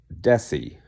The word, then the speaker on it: Desi: Desi, not Bessie, Desi like Desi Arnaz, F.